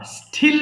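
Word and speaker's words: steal: স্পেলট, স্টিল চুরি করা, স্টিল বলবো না। হ্যাঁ, আমরা জানি অলরেডি যে এস এর পরে যদি টি থাকে তাহলে আমরা শুধু ট উচ্চারণ করব, ঠ না।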